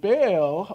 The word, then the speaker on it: Baal: And Baal was a little bit of both. So this goes into many different origins, Mesopotamia, Canaanites, Hittites, and other civilizations. And Baal, or Baal, is the correct pronunciation, is the prince and the power of the air.